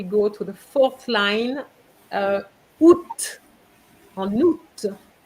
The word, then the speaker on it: août: Then, if we go to the fourth line, août, en août, you pronounce the T.